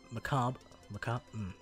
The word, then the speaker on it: macabre: odd and such sound macabre it's just the cop right that's just how you say the word right there's no there's no way you don't pronounce the re at the end i believe right says